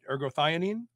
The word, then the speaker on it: ergothioneine: And recently you published a study on something called ergothioneine. Am I pronouncing that right? Ergothioneine? Ergothioneine, yes. Thioneine.